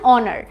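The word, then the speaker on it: honour: student এখানেও দেখো এান অনার অনার মানে কি এখানে একটা আর্টিকেল এবং এখানেও কিন্তু এইচ এর প্রোনাউন্সিয়েশনটা সাইলেন্ট থাকছে এখানে অনার সাউন্ড হচ্ছে এর জন্য আমরা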